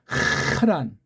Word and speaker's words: 하란: 여기 죽은 아이 하라는 이건 하란 발음을 정확하게 하란 그리고 그들이 아시아버 안